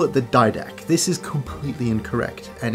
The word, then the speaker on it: Didache: Anyway, the Didak is a very old Christian text.